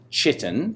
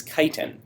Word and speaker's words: chitin: wings made up of that is not pronounced chitin that is kiten okay flexible carbohydrate and